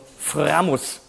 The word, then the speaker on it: Framus: And I just played this idol maker from Framus, which is how you say it in German, Framus. With a big R, no, Framus.